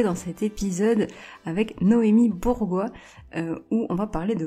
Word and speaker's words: Bourgois: tu l'as magnifiquement prononcé je m'appelle Noémi Bourgois je rigole avec ça parce que 95 % des gens m'appellent bourgeois donc voilà donc je